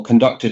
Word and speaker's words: KonductIT: We ended up at Gamma and Gamma said yes then you should talk to conduct it or conducted. How do I actually pronounce it best? Well, conducted is fine.